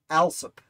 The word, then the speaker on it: Aesop: weeks back that it's alsup i think he said he was from kentucky that's how they pronounced out there i understand it to be aesop like the fables but what do i